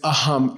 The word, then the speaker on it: aham: So the real word is aam. A h a m. Aam means me. Okay. It's the Sanskrit for that's me. Okay. Aam.